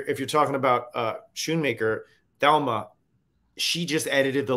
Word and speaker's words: Schoonmaker: and and and Thelma Shoon maker am I pronouncing that right yes Schoonmaker and and they were both